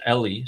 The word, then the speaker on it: Ellie: And I think Amir told me his name is actually pronounced, or their name is pronounced Ellie.